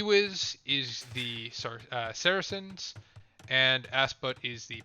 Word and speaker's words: Saracens: to be persians versus sarkayans or sarah ken sarsons saracens saracens is how you pronounce it it's been a long